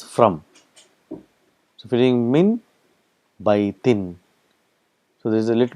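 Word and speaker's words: مِنْ بَيْتٍ: So if you're doing min baytin. So there is a little bit of pronouncing, a little bit of tajweed here. You will say mim baytin. So mim and ba is pronounced together.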